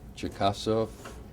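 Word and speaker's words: Cherkasov: Ivan Chekasov, I didn't pronounce that correctly.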